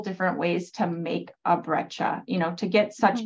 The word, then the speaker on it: breccia: What is breccia? This questioner asks. Did I pronounce it correctly?